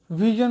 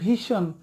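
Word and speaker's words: vision: নিশ্চয়ই ক্লিয়ার করলাম আপনাদেরকে যে এটা সঠিক উচ্চারণ কী হবে, সেটা হচ্ছে ভার্জন। ওকে, এরপরে হচ্ছে ভিশন মানে দৃষ্টি, ভিশন আমরা বলি ভীষণ, ভীষণ হবে না, এটা ভিশন।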